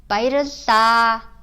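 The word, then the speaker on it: Баярлалаа: You may have seen spelling like Bairilla, but it's actually Bairilla when you say it. The reason why it's spelled that way is because it's written Bairilla in Cyrillic, but the short A is not pronounced.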